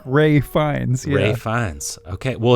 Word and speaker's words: Ralph Fiennes: So you don't say the L, you say the phonetic F sound for the PH, but because his last name starts with an F as well, you kind of can it just blends phonetically together. So it sounds like Ray Fiennes.